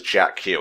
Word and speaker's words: JAKQ: JAKQ, which could probably be pronounced as Jack Q, and I've just been saying it wrong.